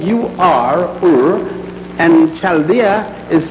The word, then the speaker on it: Ur: It is spelled U-R, Ur, and Chaldea is spelled C-H-A-L-D-E-A.